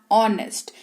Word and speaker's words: honest: आप सच्चे हैं, यू आर ऑनेस्ट। यहां पर HONEST है लेकिन इसको ऑनेस्ट पढ़ते हैं। H जो है वो साइलेंट रहता है, ठीक है।